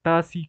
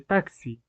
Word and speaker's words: taxi: último ejemplo también está pronunciar tasi Con la s en lugar de taxi eh que aunque en la oralidad digamos que no afecta tanto pues igualmente sigue siendo un error lingüístico eh Respecto a los